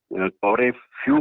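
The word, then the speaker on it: couvre-feu: लेकिन जो जानकारी जो मिली है उसके मुताबिक ये एक पुरानी फ्रेंच फ्रेज है और ये कौरे फ्यू के नाम से जानी जाती थी।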